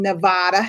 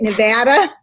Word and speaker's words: Nevada: Nevada? Actually, it's funny. If you're from New York, you say Nevada. And out here, once you cross the Mississippi, it's Nevada. Nevada. That's why Nevada. Here, watch here. Nevada.